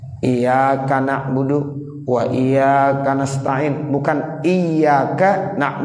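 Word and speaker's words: إياك: ke-10 kalau seandainya ada orang meringankan huruf iyanya Iya kak Iya karena budu wa iyyaka nasta'in bukan Iya Kak Nah wudhu wa iyyaka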